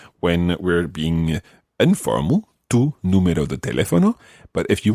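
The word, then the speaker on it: número: the spelling of numero there's an accent on the year yeah because otherwise it would be numero numero which is wrong again so Tu numero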